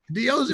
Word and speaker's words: D-O-G: If you say it quick, it's Diogi. Diogi.